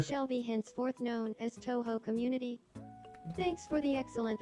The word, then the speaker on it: Touhou: I'm gonna have to repronounce it so they say it correctly. They'll be known as Toho.